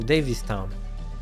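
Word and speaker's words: Davistown: Daviston officers Davis wait how do you pronounce that Davis Davis toown sorry I pronounced that wrong davist town they say they said they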